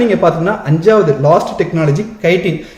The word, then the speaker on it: chitin: அடுத்து நீங்க பாத்தீங்கன்னா 5வது லாஸ்ட் டெக்னாலஜி கைட்டின். சிட்டின் ப்ரொனவுன்ஸ் பண்ணுவாங்க, CHITIN.